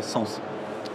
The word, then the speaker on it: S3NS: Tout à fait, et peut-être juste avant ça, signaler que l'entreprise s'appelle effectivement S3NS, mais on a tendance à le prononcer Sens.